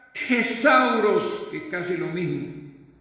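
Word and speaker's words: θησαυρός: En el griego, la palabra griega que utiliza aquí el escritor del Evangelio de Mateo se pronuncia tesauros, que es casi lo mismo, lo cual se traduce como depósito con riquezas.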